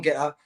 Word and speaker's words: Gettr: But so just go to the App Store and download Getter. Take 10 minutes. Tommy Robinson 1. That's my handle. And Getter, because it's spelled GETTR.